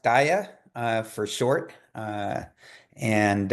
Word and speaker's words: DAIAA: much um so just real quick it is pronounced Dia uh for short uh and um it's also